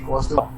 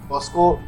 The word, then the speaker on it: Kaustav: People do call me Costco. They call me.